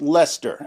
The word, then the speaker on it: Leicester: Yes, Americans, it's pronounced Lester.